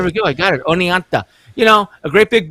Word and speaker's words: Oneonta: kind of like what we did in in Oneonta did I say it right nice that was perfect oh there we go I got it Oneonta you know a great big building really hasn't